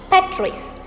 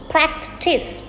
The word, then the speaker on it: practice: But some of the people pronounce this as Patrice. I don't know where that pronunciation is coming from, but I have heard this a lot. It is practice. It is very straightforward. You pronounce it just as it is written.